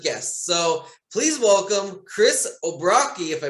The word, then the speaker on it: O'Brocki: So please welcome Chris Obrocki, if I pronounced that correctly.